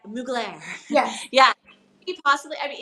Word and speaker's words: Mugler: school like butchered that so not we're not muggler but mugir yeah yeah possibly I